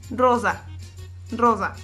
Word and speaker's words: rosa: En italiano, cuando la consonante, la S, está así solita, es como si patinara. Rosa, rosa.